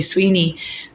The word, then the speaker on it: स्वेनी: है इसका नाम एक्चुअली स्वेनी था। तो जब हमारे जो आर्टिस्ट थे, जब वो स्पेलिंग लिखना चाह रहे थे स्वीनी, तो वो कह ही नहीं पा रहे थे क्योंकि वो नेसल साउंड है स्वेनी।